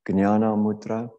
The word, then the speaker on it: Jnana Mudra: can touch, which is Jnana Mudra. Jnana Mudra, or sometimes in different areas of South Asia, you might hear it pronounced Jnana Mudra, like in Telugu, it's pronounced like that, in the Telugu language.